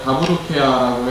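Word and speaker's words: ダブルケア: 좋을 것 같은데 뭐 일본어 다보로케야라고 해가지고 일본 발음으로 더블 케어를 이렇게 발음하는데요 단어 의미는 그렇게 어렵지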